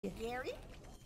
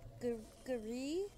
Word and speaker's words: Guri: Gary? Pretty sure it's Guri. Guri? It's not hard to pronounce, it's simply Guri.